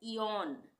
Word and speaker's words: eon: जैसे EON, यहाँ पे EO एक साथ आ रहा है तो इसको हम क्या पढ़ेंगे इयोन, इयोन।